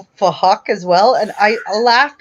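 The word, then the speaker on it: Phuc: he was Asian, and his name was Fuck, but it was spelled with a PH, so they were pronouncing it Fuck.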